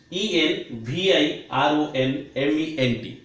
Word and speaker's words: environment: जहार उच्चारण हुए तो मैक्सिमम स्टूडेंट्स माने कहती एनवायरमेंट एमती कौन नहीं कौन सब उच्चारण करती. But friends are proper pronunciation होची एनवायरमेंट. What's that friend? Environment pollution, not environment pollution.